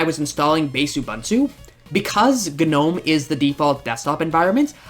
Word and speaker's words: GNOME: Next up, there's Gnome, pronounced with saying the actual sound of the G followed by Gnome. Gnome.